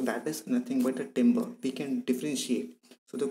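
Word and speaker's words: timbre: in music words september it is pronounced as timber describes the quality of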